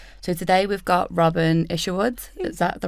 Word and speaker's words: Isherwood: So today we've got Robyn Isherwood. Is that the right pronunciation?